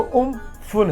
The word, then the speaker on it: Amphan: English में AMPHAN लिखते हैं, पर थाई भाषा में इसका जो उच्चारण है, जो प्रोनाउंसिएशन है, वो उम्फुन है, इसीलिए इसको उम्फुन लिख रहे हैं हम लोग।